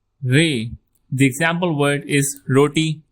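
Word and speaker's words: ر: Roll r if possible but if facing issue just let it simple for right now. Rey. Rey.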